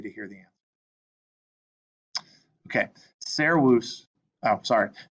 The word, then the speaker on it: servus: Okay, servus. Oh, sorry. This word is servus. Remember, the V is a W.